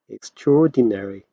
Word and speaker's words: extraordinary: extraordinary 발음이 어렵죠? 원어민 발음으로 하면 extraordinary 이렇게 있습니다.